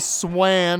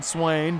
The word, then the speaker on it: Swan: Nowhere to go there for AJ Swan. I'm pretty sure is more how it's pronounced than Swain, but you know.